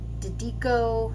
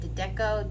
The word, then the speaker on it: Dedeco: All right, so I'm just going to hit this thing with these Dedeco, I think that's how you say it, Dedeco, D-E-D-E-C-O.